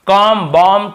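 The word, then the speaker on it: comb: लेकिन ज्यादातर आप देखेंगे ये सब वर्ड्स में हम एम का बी का उच्चारण नहीं करते हैं। कॉम्ब थंब डम थंब ऐसे बोलते थे।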